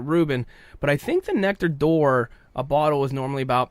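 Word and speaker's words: Nectar d'Or: nectar day or but it seems to be pronounced door nectar door seems to be how everybody flung from Glenmorangie pronouncing nectar door almost like it's we're opening and closing a door so now this one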